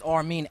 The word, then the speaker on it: R-Mean: you yeah yeah it's Arman at R mean it's spelled r and then mean like a mean Twitter Instagram it's all